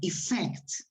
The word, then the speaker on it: effect: Eso significa que la palabra la voy a acentuar en la segunda sílaba, effect.